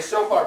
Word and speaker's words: shofar: You mean the shofar player?